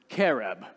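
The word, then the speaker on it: qereb: similarly mentioned to pull the word careb i think that's how it's pronounced q-e-r-e-b which in hebrew means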